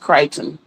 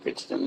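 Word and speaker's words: Crichton: And yes, his name is Michael and it's pronounced Kryton. Michael Kiteon or Christian. Some people say it's not Christian, it's Kiteon.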